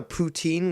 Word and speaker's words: poutine: But they have really good, authentic Donair, poutine, or poutin, as it's properly pronounced.